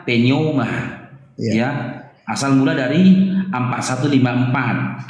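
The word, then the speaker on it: πνεῦμα: ada Cong Nah inilah penerjemahan dari Poma ya pelafalannya penoma ya asal mula dari 4154 kita Tengok ya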